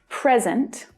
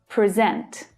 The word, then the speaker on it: present: you think next example present present the vowel sound is strong in the stressed syllable remember and then the vowel sound in the unstressed syllable reduces present present we forgot